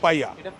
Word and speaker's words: paella: পায়া স্পেলিংটা কি? PAELLA, উচ্চারণ কিন্তু পাইয়া।